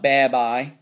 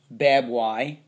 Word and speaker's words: baby: This is not bab I, bab y. Babe. That y makes the e sound. Babe e. Baby. Baby.